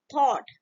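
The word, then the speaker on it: thought: बाद टी हा ओ यू जी एस टी थॉट उसके बाद ल ए यू जी हा ठीक है इसमें ग एस साइलेंट है इसमें गस्ट साइलेंट ठीक है यू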